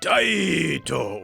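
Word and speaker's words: Taito: the generically named crime city crime city from dieto released in 1989. yes that's how the company's name is pronounced this is basically a side-scrolling run and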